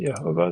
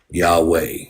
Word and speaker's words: Yahweh: man of the Dust please don't pronounce it yahovah that's silly Yahweh yahwa I don't know